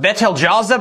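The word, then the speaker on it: Betelgeuse: There's a star on the shoulder of Orion called Beetlejuice. That's pretty bright. Technically, it's pronounced Betel Jaza, but no one ever says it right.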